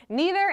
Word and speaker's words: neither: please thank you aha the answer is both both neither and neither are both totally acceptable pronunciations there's actually a famous